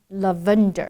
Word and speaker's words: lavender: the vendor again right every single time it's lavender the emphasis is placed on the different different syllable it's lavender not lavender let's listen to Michael